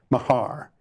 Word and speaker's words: Mahar: I like to be called Mahar. It's spelled M-A-H-A-R.